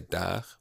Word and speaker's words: der: It's often is pronounced like an E, but also it has often an A sound, particularly in end of words and before R's. For instance, here, this word I would say der, har, jeg, rene.